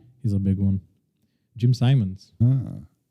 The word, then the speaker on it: Simons: a big one Jim Simons I pronounce it Simmons I still don't know I did my research some people call him Simon some people call him Simons all right let's be